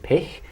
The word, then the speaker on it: Pich: for that so my my name is pick and it's that guttural german sound right and the reason